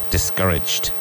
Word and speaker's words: discouraged: Discouraged. Discouraged with a G sound at the end.